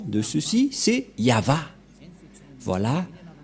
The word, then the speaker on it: Yahvah: prononciation de ceci c'est yava voilà la prononciation de ce terme lorsqu'on le prononce en